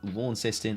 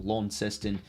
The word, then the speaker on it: Launceston: on the lions at utas at stadium in launceston or launceston and you pronounce it's one way or the other anyway